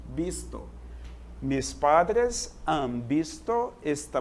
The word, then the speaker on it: visto: Porque, afinal de contas, o V tem som de B no espanhol. Visto.